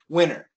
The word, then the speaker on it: winter: another great example is the word winter Can we cancel the T yes winter it's possible I love winter oh I love winter absolutely no T however for perf students